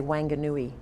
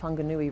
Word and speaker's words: Whanganui: or someone from North America, you might say Wanganui, with an Australian accent, that's what you'd say. But I am told with great authority by both Maori and other New Zealand colleagues that it's pronounced Whanganui River.